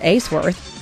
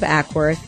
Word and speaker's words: Acworth: aside from the announcer pronouncing my home city as ace worth instead of acworth it was an honor